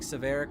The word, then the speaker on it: Saverik: Basically, Saverik, first of all, the way to pronounce his name is more like Saverik or Saverik. I really don't care.